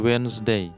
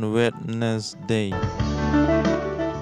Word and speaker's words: Wednesday: diadakan pada hari Rabu ingat pengucapannya wenday bukan Wednesday lanjut nama-nama hari besar